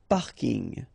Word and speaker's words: parking: So I know it's coming from English, but still you should pronounce it the French way.